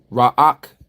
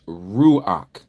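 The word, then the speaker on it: רוח: Okay, and some of you say raak instead of ruach. It's not raak, it's ruach. Okay, remember pronunciation.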